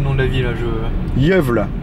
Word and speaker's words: Gävle: Alors, faut pas me demander le nom de la ville, là, Jövle. Ça s'écrit Gävle en français, mais en suédois, ça se dit Jövle.